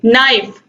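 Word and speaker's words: knife: तो यहाँ पर आप देखिए नाइफ, KNIF, नाइफ मीन्स चाकू होता है, के साइलेंट है।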